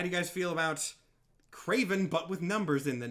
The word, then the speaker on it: KR4V3N: this one written out because it is Craven, but it's spelled like that. It is KR4V3N, a Terminator-esque alternate version of Craven the Hunter.